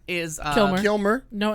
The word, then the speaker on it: Kilmer: so we'll start with that um okay Val kilmner is uh Kilmer no n I wanna call him Kilmer Kilmer